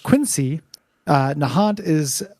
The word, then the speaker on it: Quincy: with this one example Quincy is pronounced Quincy uh Nahant is pronounced